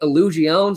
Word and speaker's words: Illusione: I think it's Illusiones. I know that it's obnoxious how they've decided to pronounce it. It's illusion with an E.